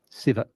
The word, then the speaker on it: Shiva: He vowed that if he survived this ordeal, he would name his firstborn son after Lord Shiva. And here I am. Except we're Southern and we pronounce it Siva.